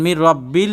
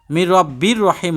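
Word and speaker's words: مِنْ رَبٍّ رَحِيمٍ: আপনাকে পড়তে হবে সালামুন কওলাম রব্বির রাহিম দেখেন মির রাব্বিল লেখছে মির রাব্বির রহিম হবে কিন্তু মির রাব্বিল এজন্য উচ্চারণ অনেক সময় বলতে চাই না কিন্তু আপনারা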